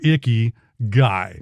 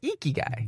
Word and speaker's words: Ikigai: For those of you in America, you can pronounce it Iki or Icky Guy. That's not how you say it. It's like Iki. Like if you're trying to say like Pikachu, it's Ikigai. Very good.